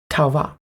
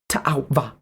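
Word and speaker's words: Tau'va: Or in their language, Tauva. Or if I were to pronounce the apostrophes in that word, Ta'auva.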